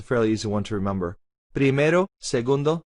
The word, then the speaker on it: primero: When we pronounce tercero and primero, pay attention to the R. It's not primero, tercero. That's again an English accent pronunciation of the R. We want to flap the R.